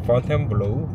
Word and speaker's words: Fontainebleau: 예, 영어로는 파운틴 블루인데 우린 좀 있어 보이려고 프렌치 발음으로 폰텐 블루.